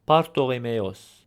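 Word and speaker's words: Բարթողոմէոս: Now for guessing the name, notice how, for example, in the name Bartholomew, we pronounce it as Bartholomeos with a P sound.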